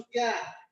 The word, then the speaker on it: জ্ঞান: যেমন জ্ঞান, এটা এরকম হলো কেন? তাহলে বর্গের জ যদি শব্দের প্রথমে থাকে তাহলে হয় গ জফলা চন্দ্রবিন্দু, আর এই আকারের জন্য এই জফলা আকার হয়েছে জ্ঞান।